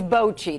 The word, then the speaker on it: bocce: saying I think box yes it's Bochy that's how they pronounce it here in Kansas City okay all right Angie